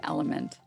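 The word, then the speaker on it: LMNT: bought these it's LMN oh I guess you would just pronounce it element I didn't I just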